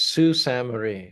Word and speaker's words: Sault Ste. Marie: Natasha says Sault Ste. Marie, Sault Ste. Marie. Isn't that? I thought that's what I said. Sault, it's spelled S-A-U-L-T.